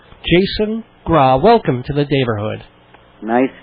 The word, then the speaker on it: Graae: Graae, which is pronounced Graae. Jason Graae.